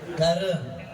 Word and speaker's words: Karuang: Gimana bacanya? Kareng.